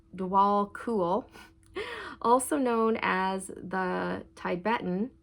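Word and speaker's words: Djwhal Khul: Dwal Koul, pronounced Dwal Cool, also known as the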